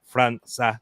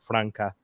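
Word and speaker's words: França: everyone else it is because it is a Portuguese name Franza not Franca um you always get will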